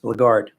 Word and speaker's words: blackguard: January 24th this word was on or today blackguard Lagarde it's the LHC khu ard but it's pronounced Bogart its origin the word is made up of